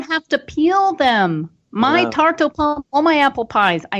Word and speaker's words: tarte aux pommes: And I would say this tarte aux pommes. How do you pronounce it again? Tarte aux pommes.